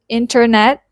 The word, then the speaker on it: internet: Now, another personality of the T sound is that the T disappears completely in fast speech. For example, in the word internet, when Americans say it fast, they will say it as internet.